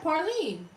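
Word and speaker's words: praline: Yeah, Parlene. I know I'm saying it right. This is how we say it down here.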